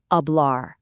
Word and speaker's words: hablar: And hey, there's our old friend, the silent H popping up again in the word hablar.